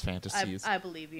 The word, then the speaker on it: Phantastes: By the way, it's called Fantasies. It's called Fantasies, spelled with a PH. Yeah, right? it's spelled Phantastes. Yeah, it's really weird. Interesting. Instead of like what we think is like fantasy with the F and just the Y.